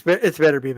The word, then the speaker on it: Beterbiev: It's Beterbiev actually, yeah.